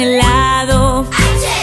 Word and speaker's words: helado: El elefante come frambuesas y gelatina, también helado. Helado se escribe con H, pero la H es muda, no se pronuncia.